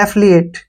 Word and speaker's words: affiliate: जैसे next word है AFFILIATE, ठीक है ना, इसको ध्यान से देखिए। ए का उच्चारण यहाँ पे ए ही करेंगे, ठीक है, और डबल एफ का जो उच्चारण है फै होगा, और आई से ई की मात्रा, एल से ले, और आई से ई की मात्रा, और ए से ए का उच्चारण हो गया, टी ई का उच्चारण टे हो गया। एफिलिएट, क्या पढ़ेंगे इसको? एफिलिएट, ठीक है ना।